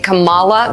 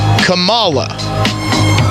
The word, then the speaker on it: Kamala: an organized hate campaign to say Camala like like the 9s pro wrestler God Rest his soul if you say Cala you're a racist if you say Kamala you're cool I don't